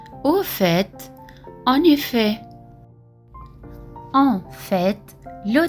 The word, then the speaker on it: au fait: Au fait, le T à la fin se prononce aussi.